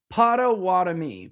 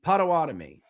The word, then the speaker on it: Potawatomi: Where's my pronunciation guy? Come on, man. Where is it? What is it? There it is. Potawatomi. Potawatomi.